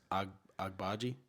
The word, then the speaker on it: Agbaji: It's Agbaji.